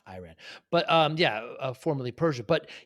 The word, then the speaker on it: Iran: Speaking of pronunciation, I mispronounce it's Iran, not Iran.